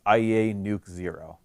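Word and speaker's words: IEANUC00: iea nuc 0 member usually pronounced iea nuke 0.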